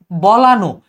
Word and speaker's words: বলানো: যেমন বলান, এটা কিন্তু বলান না, এটা হবে বলানো।